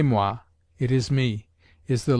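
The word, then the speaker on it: moi: who is there is mua me and say mwa it is me is the legitimate phrase never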